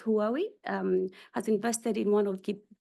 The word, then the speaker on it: Huawei: So, I think you pronounce it as Huawei, has invested in one